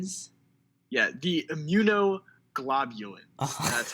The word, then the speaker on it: immunoglobulins: and the strongest, most common ones are the immunoglobulins. Sorry about that pronunciation. Immunoglobulins. Yeah, the immunoglobulins.